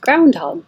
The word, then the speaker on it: groundhog: and we started with Groundhog Day groundhogs you kind of hear the D ground hog but you don't have to say hug hold your tongue in a g position Groundhog Day which is